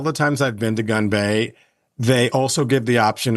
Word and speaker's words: Gunbae: The Korean restaurant Gunbae, did I pronounce that correctly? Yes. Okay. Gunbae.